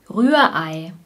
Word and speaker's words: Rührei: Das Rührei. Rührei. Wir haben hier einen Vokaleinsatz. Ei, Ei. Wir sagen nicht Rührei, Rührei, sondern Rührei. Das R ist ein Rachen-R.